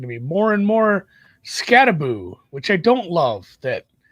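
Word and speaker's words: Skattebo: So, it's going to be more and more Scataboo, which I don't love that.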